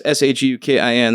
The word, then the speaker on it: Shukin: SHOOKEN. wow. At least it was phonetically correct, but it's like, damn. So, but yeah, it's SHUKIN.